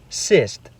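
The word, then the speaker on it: сесть: For example, let's look at the word siest meaning to eat up. If the hard sign is removed, it becomes cyst, which means to sit.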